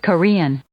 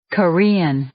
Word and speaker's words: Korean: loud and clear no we can clearly tell that the syllable rien is more prominent than the other and the wave form of the recording is the proof of that Korean Korean therefore we say the syllable rien is stressed and cut is unstressed so here is rule